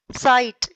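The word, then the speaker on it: sight: पढ़ना है कि ब्राइट साइट। आपने देखा कि हियर यहां जीएस इज साइलेंट। कि यहां देखो दोनों शब्दों में जो जी एच जो लेटर्स हैं वो साइलेंट है। उनकी आवाज नहीं आ रही।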